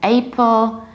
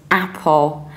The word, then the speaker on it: Apple: another very popular word I've heard different versions I've heard April I pull somebody even told me that they say I pull because I pull produces iPhone so that was the logical correlation I'm very grateful no we say simply Apple Apple exactly like a name of a shrews Apple very broadly open Mouse Apple and the American accent